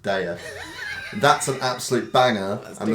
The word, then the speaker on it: Daya: That's obviously another beer by Daya, pronounced Daya.